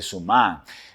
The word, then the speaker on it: Suman: por isso que eu tenho a tendência de falar suma de colocar a sílaba tônica na primeira assim como sempre se faz nas línguas de providência Germânica né É mas em Veneto provavelmente a pronúncia vai ser somar mas ele deriva da